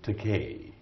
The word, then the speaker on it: Takei: and so I said my name is Takei I'm gay and Takei rhymes with gay so if you can't